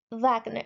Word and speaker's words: Wagner: his attendant or his um student and servant Vagner Wagner wag it's not pronounced as Wagner it's Wagner German pronunciation as